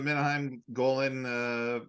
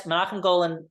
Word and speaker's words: Menahem Golan: Yeah, this is not only Golden Globus, this is a Menahem Golan film, right? This is him. Yes, Menachem Golan directed this movie.